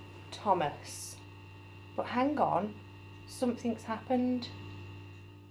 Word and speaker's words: Thomas: we spell your name is there a silent letter there is isn't there goes here but we can't hear this thomas the hook goes